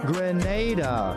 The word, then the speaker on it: Grenada: Grenada.